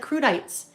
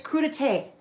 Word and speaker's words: crudité: It looks like crudites. It's crudité. Crudité. It's a French word.